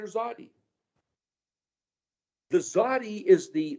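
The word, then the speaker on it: Tsadi: It's pronounced as I read it as a capital T lower Z. It's not S or TS, or it's tz, like a zitzi.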